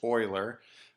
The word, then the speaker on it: Euler: the first one is euler and it is pronounced euler and he focused his attention on the edges